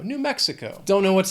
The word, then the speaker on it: New Mexico: 4 syllables. Again, the stress is on that first syllable of the second word. New Mexico. Mexico. New Mexico.